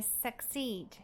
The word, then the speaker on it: succeed: A nossa próxima palavra é succeed, succeed. E nesse caso, o nosso som schwa vai ser representado pela letra U. E aqui nós temos a representação fonética de succeed. Suck, suck, suck, succeed, succeed.